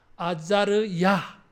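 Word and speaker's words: עזריה: 하나님이 도우신다 이런 뜻입 우리말은이 이름이 똑같은데 히브리어로 발음하면 아들 이름이 달라요 아자르야 아자르야 이게 아사르 어 아사랴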